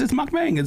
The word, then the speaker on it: mukbang: It's mukbang. And that's how it's spelled too.